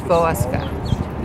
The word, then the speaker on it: Wolowska: a Polish school, so they pronounced it the Polish way, and I was Wolowska. Wolowska. If you were a female, you would end your name with an A.